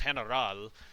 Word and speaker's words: Heneral: Fair warning, I am going to be pronouncing the word general in the Tagalog or Spanish way, which is Heneral.